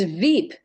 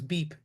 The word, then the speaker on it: VEEP: It's Veep, VEEP, isn't it? That's correct, Sally. Okay, Yeah. I thought it was Beep.